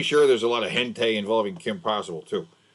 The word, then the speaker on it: hentai: I'm pretty sure there's a lot of hentai involving Kim Possible too. Hentei? Hentai. Never heard it pronounced hentei. Hentai. That's how you say it. That's how you say it in Bear.